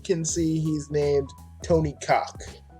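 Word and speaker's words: Cawk: see he's named Tony Cock. And that's Cock with C-A-W-K. I wasn't saying a cuss word. I wasn't cussing. That was a cuss word that slipped out. That's exactly what's pronounced.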